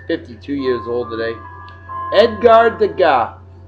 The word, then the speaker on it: Degas: Edgar Degas, Degas. There's the S is silent in French language, folks.